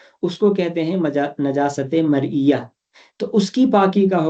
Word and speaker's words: مرئیہ: نجاست مرئیہ، نجاست مرئیہ۔ نمبر 2 نجاست غیر مرئیہ، مرئیہ کی سپیلنگ آئیں گی میم رے حمزہ یہ اور